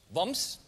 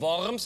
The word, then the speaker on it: Worms: Der erste Brief kommt von Michael Traub aus Woms. Die korrekte Aussprache heißt WOMs. Geschrieben Worms, aber mir wohne in Woms.